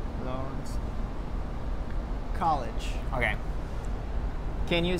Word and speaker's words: Lawrence: And we don't pronounce a W? Uh-huh. Lawrence.